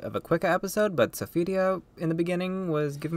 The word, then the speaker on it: Sophitia: I say Sophidia. Sophie, and so many other. Generally, I do pronounce it Sophidia. But, I just generally just say it so many different ways now because I hear people saying it different ways. I mean, personally, like, I mean, just Sophie is the most common, I would say, but Sophitia, I like the pronunciation so much more from Soul Edge.